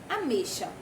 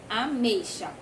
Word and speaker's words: ameixa: Ameixa. Ameixa. Ela é escrita com X, porém ela tem som de CH.